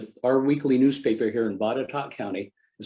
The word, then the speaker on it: Botetourt: First of all, Botetourt, that is the correct pronunciation from it, by the way. It looks like it should be different.